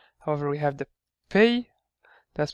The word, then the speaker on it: Ⲡ: However, we pronounce it as pay. So actually calls pronounced pay. They pronounce pi in Greek, but however pronounce like pay. The same way we say may and nay, we say also pay.